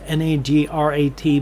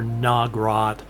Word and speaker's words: Nagrat: but the settlement is Nagrat. Now when you look at that, it's N A G R A T, but it's not pronounced Nagrat or Nagrat or anything like that. It's short, choppy, quick.